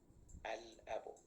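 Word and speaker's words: الأب: So we pronounced the Lam. Al-Abu.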